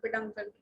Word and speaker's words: peduncle: Paid और अंकल की spelling UNCLE, peduncle.